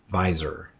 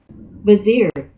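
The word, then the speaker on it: vizier: as his own FYI the word is vzer not visor vazir vazir of course this Nephi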